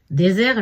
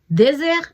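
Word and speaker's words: desert: நான் ஏற்கனவே உங்களுக்கு சொல்லியிருக்கிறேன், 1 எஸ் வந்தால் அது அழுத்தமாகவும், 2 எஸ் வந்தால் அது மென்மையாகவும் உச்சரிக்கப்படும். ஆகவே டெசேர் என்று சொன்னால் பாலைவனம், டெசேர் என்று சொன்னால் சாப்பாட்டுக்கு பின் உண்ணும் இனிப்பு வகை என்று சொல்லலாம்.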